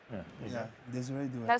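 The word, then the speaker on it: Désiré Doué: Desiree Doué. Yes. Please Desire. please say his name properly. Okay, say it again. Desiree Doué.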